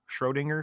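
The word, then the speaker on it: Schrödinger: you say schrodiger's yeah you know Road finger Schrodinger Schrodinger's cat yeah yeah so you could it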